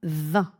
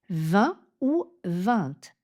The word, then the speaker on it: vingt: On commence donc avec le nombre 20. 20 ou 20. Dans certaines régions, vous pourrez entendre le T prononcé.